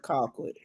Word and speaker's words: Colquitt: Colquitt County. That's right. Call quit.